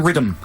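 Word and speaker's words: Riddim: In fact, it's called Countdown Rhythm, and it's spelled R-I-D-D-I-M.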